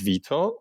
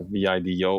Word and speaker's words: Vito: Yeah, even though my nickname, even back when I was growing up back in Europe, is Vito, or so like Italians, or some of my friends would pronounce it as like Vito, more like a Vido, or pronunciation. But, my friends in Europe would say Vito. It's like in Italian, Vittorio, Vito.